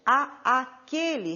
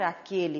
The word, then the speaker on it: àquele: E aí nós temos, devo voltar àquele restaurante, a aquele restaurante. Só que não devemos pronunciar dessa maneira. Pronunciamos como se fosse um único a. Devemos voltar àquele restaurante.